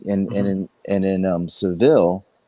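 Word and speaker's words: Sevilla: and and in um Seville or severe it's a the Spanish pronounce it there's a mosque and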